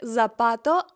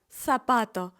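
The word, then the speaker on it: zapato: Сарагоса Сарагоса це слово не вимовлятиметься як запато а ми скажемо сапато сапато це слово яке означає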